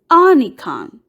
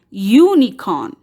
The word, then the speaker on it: unicorn: Here, we don't pronounce with the vowel sound of U, that is a. We don't say unicorn, but here we take the name of the letter U and pronounce as unicorn, which is the sound of the consonant letter Y.